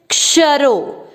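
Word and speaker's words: क्षरः: क्ष, श का अर्थ हुआ आधा क और श पूरा, तो इसमें क का उच्चारण भी आना है और श पे अधिक जोर देना है। कैसे? क्षरो, क्षरो। भाव, व में अमिक्स किया।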